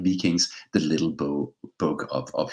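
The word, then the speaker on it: Wiking: has come out Mike vicking uh uh and it's I know it's a w but it's pronounced in Danish with a singly by Mike beakings the little bow bug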